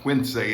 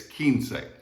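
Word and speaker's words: quince: so it's keen say the u is silent don't pronounce it all right it's not quits it's not quincy it's kinsei all right the next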